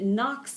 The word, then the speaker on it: knocks: um and then it knocks it off balance do you see that the animal in its jaws knocks it off balance the K is silent there that's one of those silent ghost letters we had talked about